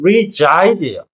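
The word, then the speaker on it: reside: 사이드가 아니라 발음이 regide예요. 그니까 중간에 붙은 s가 우리가 흔히 말하는 Z g사운드가 나기 때문에 발음상도 중요했던 거.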